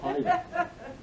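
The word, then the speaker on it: Pydar: That's how you say it. Pida.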